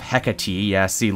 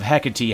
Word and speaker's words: Hecate: off the servants of Hecate ESC look I learned how to say it right and all it took was a whole comment section of people telling me I said it wrong never let it be